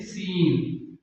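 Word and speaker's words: scene: जैसे सीन सीन सीन का माना है मंजा अब यहां पर सी से पहले एस आया हुआ है सी से पहले एस आया हुआ है तो ये सी साइलेंट यानी खामोश है इसको नहीं पढ़ेंगे इसका तलफुज नहीं होगा और आठवां कायदा ये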